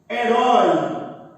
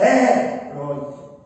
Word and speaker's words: herói: A palavra herói. Olha que bacana. Eu não falo assim, herói. Eu falo herói. Então a sílaba tônica pronunciada é a última.